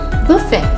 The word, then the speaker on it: buffet: The silent letter T. Interview, buffet, gourmet, rapport, penchant, listen, glisten, hasten, fasten, castle, whistle.